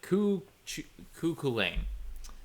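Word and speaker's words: Cú Chulainn: but yeah so the cuckoo lane sorry i have trouble saying the name because it has like ch but apparently you're not supposed to pronounce it yeah uh but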